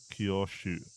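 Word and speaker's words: 郷愁: Training and homesickness are both pronounced kyoshu.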